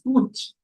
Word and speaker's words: cwtch: But it is pronounced as Kuch.